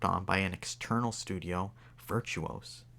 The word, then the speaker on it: Virtuos: by an external studio virtuos i think that's virtuos that's how you pronounce it i think established in